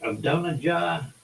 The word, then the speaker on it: Adonijah: Adonijah?